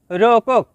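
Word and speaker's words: rokok: শব্দটি লেখার ক্ষেত্রে লিখতে হয় রোকক, তবে এর সঠিক উচ্চারণ হবে রোকো।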